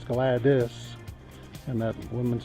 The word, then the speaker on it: Gladys: corrected me and said it's not glad ease but it's glad this and that woman's spell that name GL ad Wyatt dys so Gladys it is a little